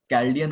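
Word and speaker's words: Chaldean: देखिए कैल्डियन numerology, एक तो कैल्डियन होता है, यही सही प्रोनाउंसिएशन है, और इसमें देखिए क्या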